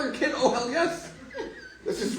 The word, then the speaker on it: Yess: my name is yes um my last name is spelled ye SS second s is silent I um I realize